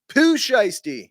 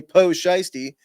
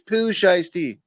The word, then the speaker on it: Pooh Shiesty: All right, it's pronounced Pooh Shiesty. He's a rapper. That was in response. I asked what the mask was. Guy tells me Poe Shiesty and didn't give me the proper pronunciation.